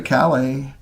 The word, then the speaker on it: Calais: I used to go to Calais, excuse me. The British put the emphasis on the wrong syllable.